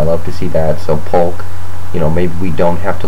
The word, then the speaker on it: Polk: They kept pronouncing his name Pope, I think, for the announcers, but his name is Polk, the running back.